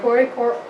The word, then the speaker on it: coracoid: Coracoid. Whatever you say, Coracoid.